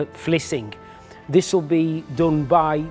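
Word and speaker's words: Vlissingen: to a place called flushing again pronounced uh in the Dutch of fling this will be done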